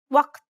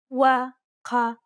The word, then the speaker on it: وقت: The first is that it's a unique sound that does not exist in many languages. Let's listen to how it's pronounced in the word time in Standard Arabic. وقت وقت The second aspect is